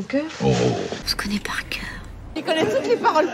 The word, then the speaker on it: cœur: le mot cœur cœur alors ici on a le son k non au départ comme si c'était un cas que que le son e comme le E en français avec la langue au milieu e et le r on va dire cœur cœur cœur cœur donc le r il nous vient un petit peu de la gorge cœur par exemple j'ai